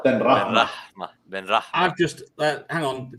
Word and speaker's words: Ben Rahma: Ben Rahma. See there, now we're rolling the R's the Persian style. Ben Rahma.